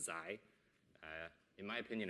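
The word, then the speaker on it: ξ: variable which i call zai right so this is that greek letter it's pronounced zai in my opinion it's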